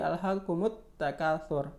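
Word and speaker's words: أَلْهَاكُمُ التَّكَاثُرُ: ini ya alif lam Kemudian bertemu dengan tak maka Bukan dibaca alhakumut Takasur tapi alhakumut Takasur mereka Jadi biasanya ditandai huruf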